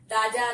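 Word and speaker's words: राज़: ठीक है, राज्य, राजा, राज, काज, इस ये जो है वही वाला राज हो गया, राज्य। और अगर नुक्ता लगा देंगे तो इसका उच्चारण होगा राज, इसका अर्थ हो गया रहस्य।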